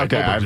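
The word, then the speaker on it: Åberg: over Justin Rose and Tommy Fleetwood, but Ludwig Oberg. Oberg. I've heard Oberg. You're right. Oberg's right. Okay, Oberg.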